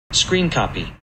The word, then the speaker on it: scrcpy: how to say it screen copy so apparently you're supposed to say it like screen copy which makes sense because